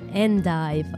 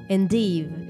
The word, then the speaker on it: endive: and then we have Endive or Endive you pronounce this as you want French style or British style has a crisp texture